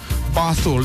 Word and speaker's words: Basul: Basul is the correct pronunciation.